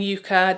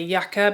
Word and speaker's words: Yucca: If you didn't watch my review, yes, we're saying Yucca, despite my overwhelming desire to say Yucca, because that's how it's pronounced in the country where I live. However, Natasha Denona's palette, she named it and she pronounces it Yucca, so I'm going to respect that and her pronunciation and her language.